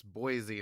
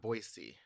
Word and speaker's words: Boise: And he was saying it's Boise, not Boisey.